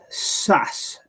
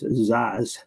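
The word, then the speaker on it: Szasz: how you pronounced it he pronounced it SAS like SS but most people pronounced it as zaz ah okay um what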